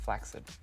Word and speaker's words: flaccid: It's actually pronounced flaccid. Not a lot of people know that.